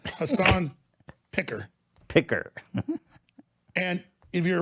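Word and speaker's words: Piker: pick up that name that's his name Hassan picker picker and if you're a radio listener you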